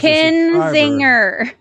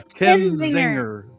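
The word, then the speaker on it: Kinzinger: name since he's Kenzinger. Yeah, Kenzinger. Okay. Like Zinger. Ken Zinger.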